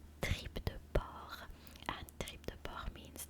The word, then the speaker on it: porc: Meanwhile, the pig, which I was telling you about, tripe de porc, pig in French is said porc as well, but it's P-O-R-C, you know?